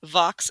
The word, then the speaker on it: Vox: yeah, Vox. It's Latin Vox. for voice. Okay, Vox. So, not to be confused with Fox with an F, but Vox, VOX, summed it up